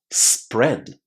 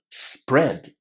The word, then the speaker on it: spread: A lot of learners want to say E, but it's not E. Listen. Spread. Spread. The sound inside this word is a short E, exactly the same sound as in the word pet or bet.